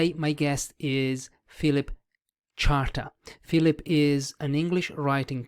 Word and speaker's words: Charter: I kept calling you Philip Carter, so I kept mispronouncing your surname.